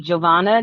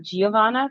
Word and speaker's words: Giovanna: So Geo is pronounced Joe. So it would be Giovanna, not Giovanna, because I would not have gotten that right.